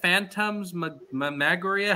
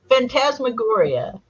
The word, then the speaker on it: phantasmagoria: that uh Phantom's magoria I said Phantoms maguria how do you say that phantasmagoria and tasma Gloria so